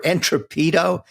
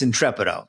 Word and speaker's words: Intrepido: The winner uh was I know some people want to call him Entreprene Entrop or Entropedo. It's Intrepido.